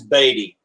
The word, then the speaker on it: Beaty: want to correct him everyone says bd because it's uh that's how you spell it you know like b e a like beat yeah also all right gentlemen dave say his name is baby he's not beating his baby all right sorry baby